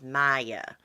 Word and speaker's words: Maya: I think you pronounce her name as Maya, but they call her May.